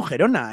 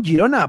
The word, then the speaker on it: Girona: por ejemplo al Girona no le llamo gerona yo le llamo Girona porque entiendo que es el nombre de el nombre del club al igual que por